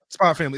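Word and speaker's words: Spy × Family: Spy Family. It's Spy X Family, but it's pronounced Spy Family.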